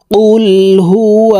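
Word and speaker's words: قل: সূরা ইখলাস মক্কায় অবতীর্ণ হয়েছে বিসমিল্লাহির রাহমানির রাহিম কুলহু আল্লাহু আহাদ আল্লাহুস সামাদ প্রিয় দর্শক আমি বানান করে আপনাদেরকে বলে দিচ্ছি আপনারা আমার সঙ্গে বলে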